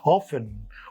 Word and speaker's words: often: Often often. It is often, but sometimes it is often also.